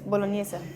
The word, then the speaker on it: bolognese: Yeah, it's bolognese.